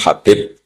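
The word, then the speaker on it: Hubaib: yang nulis Abi Abdurrahman Habib asulami itu dihakat nya kitab itu ada yang nulis khub Yang benar Oh gigih yang benar itu bacanya habib habib itu Sulami itu ikut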